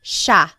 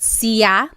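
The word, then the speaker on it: siya: It looks like it should be pronounced sea, but it's actually pronounced sha sha. There are some regions in the Philippines that might pronounce it sa but for the most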